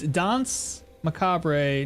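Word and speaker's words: Danse Macabre: It's Dons Macabre. No emphasis on the last E.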